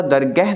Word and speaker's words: दरगाह: मिसाल जे तौर ते दरगाह, ठीकु आहे, हालांकि हाए जी उच्चारण असां पढ़ी आहे कि हाए पोइतों वारे अखर जी दिलामा बणी करे उच्चारण थींदो आहे, ठीकु आहे, पर उते दरगाह इन जे करे पढ़ूं था, दरगाह न पढ़ंदासीं, उहो फारसी भाषा जो लफ़्ज़ आहे।